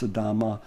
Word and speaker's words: Sidamo: Sidamo is another one. Sometimes it's pronounced Sidama.